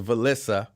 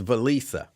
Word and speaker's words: Valisa: Uh I said I thought it was Velissa. She says, "No, it's Valisa." Okay, if you say so. But I'm telling you, it's Valissa.